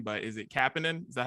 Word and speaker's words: Kapanen: how to say his name, but is it Kapanen? Is that how you say it? Yeah. Kasperi Kapanen, yeah.